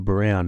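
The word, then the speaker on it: Braun: b r a n is pronounced Brown in German so people who know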